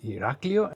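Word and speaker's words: Ηράκλειο: And how do you know that the stress is on Iraklio and not, for example, Iraklio or Iraklio? It is because you have the tone mark, and this is on the A, Iraklio.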